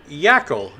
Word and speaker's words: Yackel: I got Andrew Yackel.